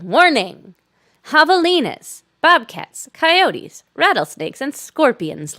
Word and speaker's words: javelina: Silly me, like not realizing it was a soft J, like in Spanish. It's a javelina.